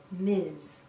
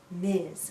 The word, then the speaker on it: Ms: mrs jones m s we pronounce this as miz miz sounds like a z at the end miz a woman can